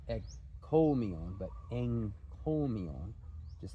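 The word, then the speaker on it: ἐγκώμιον: Again, a work of praise, but the point here is that it's enkomion, not ekkomion.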